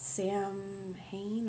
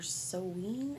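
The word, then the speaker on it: Samhain: as well um also i mispronounced this but sam hayne or seween i think is how you're supposed to say it is coming up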